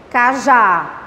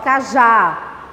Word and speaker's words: cajá: Ela é mais forte, cajá. Olha só, cajá. Acentuei. Porque terminou com A. Ela é oxítona. Quem é mais forte? O K ou já? Olha até a pronúncia, o K ou já? O já.